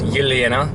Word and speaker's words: Yelena: If you are Russianly inclined, it's Yelena, and if you're American, you're gonna call her Elena. I call her Yelena because I'm dating her, because that's actually her name.